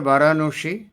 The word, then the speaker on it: বারাণসী: এটা সাহেবরা আমাদের উচ্চারণ করতে পারতো না। তাই তারা বেনারস বলে কাজ সারতো। আসলে উচ্চারণটা বারাণসী।